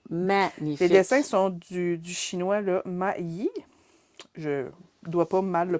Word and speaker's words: Ma Yi: sont du chinois, là, Ma Yi. Je dois pas mal le prononcer parce que C'est assez. c'est assez C'est maï. M-A-Y. C'est ça.